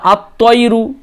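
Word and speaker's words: الطَّيْرُ: তারপরে আত্তয়রু, এখানেও দেখেন লাম বাদ চলে গেল।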